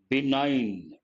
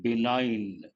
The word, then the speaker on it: benign: do you pronounce this g is silent benign and they want antonym opposite select the antonym of the given word what is a given word benign careful with pronunciation be benign hostile benign means what